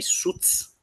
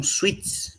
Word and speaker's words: Suits: Alguns pronunciam errado, falam sweets, mas sweets é doce. Tá? A pronúncia é suits. Você não pronuncia o i, é suits.